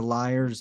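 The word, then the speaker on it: lyre: mic is suspended upside down right the the lears the Liars I've never known how to pronounce that word um liar yeah that's it's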